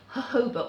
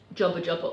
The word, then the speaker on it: jojoba: know about that, but I've used jojoba oil, which I'm told is how you're supposed to pronounce it. I'd like it to be pronounced jobba jobba oil because that's what my dyslexic brain says when I see the word.